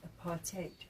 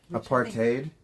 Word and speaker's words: apartheid: You know, in South Africa, it's pronounced aparate. Apartate.